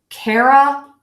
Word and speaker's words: Carolina: so we have North care like the word care like I care about you ah that really short schwa line up Carolina North Carolina North Carolina